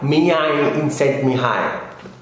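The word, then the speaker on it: Csikszentmihalyi: I would like to recommend is flow by Mia in sent me hi well that is how its names pronounced the author wrote about the flow state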